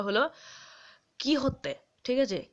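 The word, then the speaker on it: Quixote: আর তারপরের উচ্চারণটা হলো কি হতে ঠিক আছে কে ই ওয়াই এইচ ও এইচ টি ই ওয়াই এরকম উচ্চারণ ঠিক আছে কি হতে এইটা একচুয়ালি স্প্যানিশ শব্দ বুঝতে পারলে মানে স্প্যানিশ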